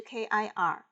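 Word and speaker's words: kṛ: kir，词根 kir 的发音是 kir，意思是制造一些事物。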